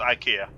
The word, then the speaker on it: IKEA: Well, it's still pronounced IKEA.